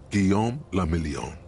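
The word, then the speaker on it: Guillaume Le Million: meant only one thing guillaume lamillion if it doesn't rhyme you're not pronouncing it right out of the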